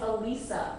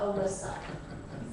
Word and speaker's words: Elisa: My name is Elisa, not Alyssa.